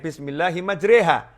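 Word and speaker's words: بسم الله مجراها: Karena ada tulisannya Bismillahi majriha. Tapi bacanya Bismillahi majriha. Tulisan dan ucapan berbeda.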